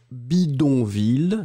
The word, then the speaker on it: bidonville: I will pronounce bidonville. So everything is going in the nose and you don't hear any N.